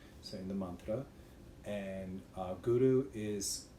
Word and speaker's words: Guru: in the mantra, and Guru is Guru, not Guru. So when you pronounce it, try to roll the tongue.